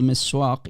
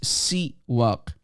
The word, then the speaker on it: siwak: There's nothing called miswak. There is nothing called miswak in the Arabic. Okay, it's siwak. Siwak, not miswak. Its correct term is siwak.